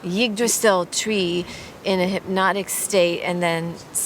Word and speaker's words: Yggdrasil: It's spelled Y-D-G. Yggdrasil? Yggdrasil tree in a hypnotic state, and then saw the letters in the water, and it's this ancient divinatory system.